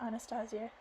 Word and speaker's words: Anastasia: Anastasia said waking me I'm gonna call her Anastasia because that's the actual pronunciation the Russian pronunciation of the English I felt her massaging